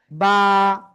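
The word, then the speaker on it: ب: ওকে, এ বা অক্ষরটা, এই যে দুই ঠোঁট, দুই ঠোঁটের ভিজা জায়গা থেকে এই অক্ষরটা উচ্চারণ হবে, বা, বা।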